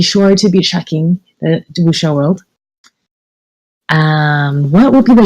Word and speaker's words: wuxia: What's the wrong pronunciation of wuxia? I pronounce it wuxia. Because the Chinese is wuxia. So if I pronounce it in English, wuxia, yeah, wuxia. I mean, I can't really say wuxia because non-Chinese speakers won't be able to pronounce it.